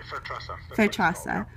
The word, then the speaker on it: Fairtrasa: So I wanted to ask you if, for Fairtrasa, is that how you pronounce it? Exactly, Fairtrasa.